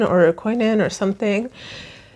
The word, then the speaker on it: Cynan: So I believe it's Conan or Quinan or something. It's a West Welsh name, so it's not pronounced the way it's spelled. It's not Sin as I would have assumed.